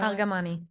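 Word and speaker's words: Argamani: no and I don't want to say her name wrong can you say her last name for me no aramani no aramani aramani she's one of the hostages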